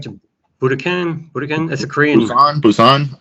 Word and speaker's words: Busan: Well, the most recent one was the Train to Budokan? Train to Budokan? That's a Korean. Busan, I think it's pronounced.